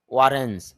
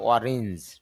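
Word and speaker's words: orange: আমরা উচ্চারণ করে থাকি ওয়ারেঞ্জ অয়ারেঞ্জ এটা তেমন শুদ্ধ না শুদ্ধ হবে অরেঞ্জ ওয়ার্ডার আদেশ বা আদেশ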